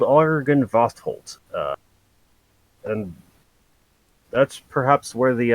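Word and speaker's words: Argynvostholt: they call the mansion argon vostholt argen vosterholt my pen is dying a-r-g-y-n yeah that's it jesus i've i've heard it spoken many times so that's why i'm sure i knew how to pronounce it yes i believe it's called argent vosholt and that's perhaps where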